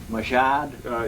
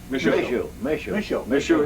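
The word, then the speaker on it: Michaud: Machad? Yeah, is that pronounced correctly? M-I-C-H-A-U-D? Michel. Michou Hill in Soldier Pond in 1947-48 and operated for 2 years, 2 winters.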